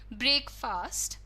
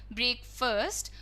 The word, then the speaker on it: breakfast: बोल कर दिखाया था, breakfast, breakfast, breakfast. So there are multiple ways that a person pronounces this word in. कई तरह से लोग बोलते हैं ब्रेकफास्ट, ब्रेकफर्स्ट और ब्रेक फास्ट, नहीं ब्रेकफास्ट.